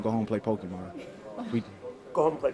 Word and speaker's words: Pokemon: home to play some Pokemon?" No, don't don't say it like that, man. Pokemon. It's Pokemon and Pokemon. You sound like an old man when you say that.